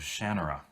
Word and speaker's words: Shannara: and that is the shannara chronicles' we see I've already read elfstones of Shanna you notice the change in the pronunciation yeah Shanna is how Terry Brooks pronounces it but since I'd already